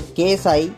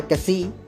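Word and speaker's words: ξ: इसे केएसआई या कैसी भी प्रोनाउंस किया जाता है।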